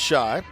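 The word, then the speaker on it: Schaich: next spells his name last name s-c-h-a-i-c-h pronounced shy parents are pete and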